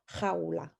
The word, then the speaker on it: jaula: So the first one is fun to pronounce because it has the J sound at the beginning. Una jaula. You try. Una jaula.